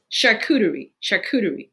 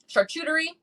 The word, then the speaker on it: charcuterie: so i'm gonna take it slow but it's charcuterie yes yes and i think it is one